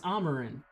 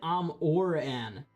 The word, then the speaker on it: Amarin: ground probably flying Amarin it's Amarin that's how Mission Control says it did I not say Amarin also you just pronounced it am or an anyway uh this entity